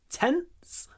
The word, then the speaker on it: tense: was tents tent remember you need to clip the N tent or I could write it like that tent a little pause between the clipped n and the S tent tents and don't